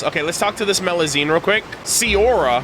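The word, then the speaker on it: Melusine: stories of Lea would you really thank you meloine is that how you pronounce it yep your pronunciation great well then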